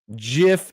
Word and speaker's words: GIF: When you hear someone pronounce GIF as GIF, and then it's a little bird saying, every day we stray further from Jod.